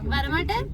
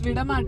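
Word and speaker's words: വിടമാട്ടേ: Varamate? Alla Varamate. What does it mean? Barla antana? She said it wrong. It's Vidamate.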